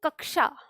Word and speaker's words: कक्षा: इस छ के साथ जो ये है, ये इसको हम बोलते हैं कक्षा।